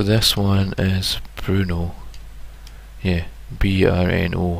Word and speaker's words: Brno: Yeah, B-R-N-O. I think it's Brno, or I know Bruno's like got a U in it, so I'm not really sure how to pronounce that one properly.